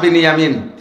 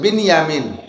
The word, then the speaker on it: বিনিয়ামিন: 2 ভাই, ইউসুফ আর বিনিয়ামিন। বনিয়ামিন না, একটু উচ্চারণ শেখেন, বিনিয়ামিন শব্দটা কি বলতো? বিনিয়ামিন। আর বনিয়ামিন কেউ নাম রাখলে বনিয়ামিন বললাম, বিনিয়ামিন।